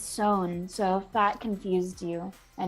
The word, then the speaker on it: Samhain: not sure it's um just pronounced very different from what it's written and so it you would want to say samhain or something like that or some hain but i researched it and it's sewn so thought confused you